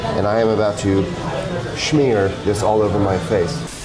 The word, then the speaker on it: schmear: There are a few foods more quintessentially New York than a bagel with a smear. I actually believe the correct pronunciation is schmear of cream cheese.